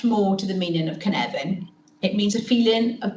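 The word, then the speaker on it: Cynefin: who don't know how to pronounce it it's pronounced Canan a Zoological examination into vulnerable children in Wales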